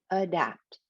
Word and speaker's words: adapt: syllable or unstressed word like in the word adapt they don't say adapt adapt it's adapt because that is that stress syllable adapt or in precedent president